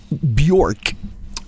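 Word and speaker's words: Björk: uh uh or sorry I'm gonna pronounce it like Americans do Bjork um somebody was super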